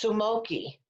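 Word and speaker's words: スモーキー: And it said that in Japanese, it's Sumoki. Sumoki.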